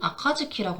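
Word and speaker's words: 暁: 그래서이 새벽이란 뜻을 같이 훈으로는 아카즈키라고 합니다.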